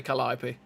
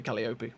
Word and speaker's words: Calliope: way we say things, it looks like you say Calliope, but it's Calliope.